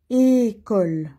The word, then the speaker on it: École: Attention, on commence avec et. École.